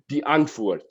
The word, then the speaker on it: Die Antwoord: But it's actually in South Africa, it's Afrikaans, and it means the answer, and it's pronounced die antwoord, like that.